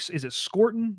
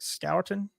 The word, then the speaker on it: Scourton: Nick Scorton? Nick Scorton, that kid. I think Scourton, I think is how you say it.